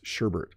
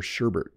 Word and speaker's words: sherbet: called this sherbet I added an R before the tea and I wasn't the only one my parents called this sherbet they would say do you want ice cream or sherbet but the proper pronunciation is sherbet again I'm only giving